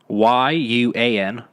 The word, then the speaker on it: yuan: YUAN. Yuan. See, it's like buoy. It's like trying to spell buoy, but like you're pronouncing it.